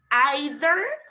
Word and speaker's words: either: Either or either? Either. Okay, what do you think? Either or either? Actually, both are correct, guys. The difference is the type of English. In American English, you say either.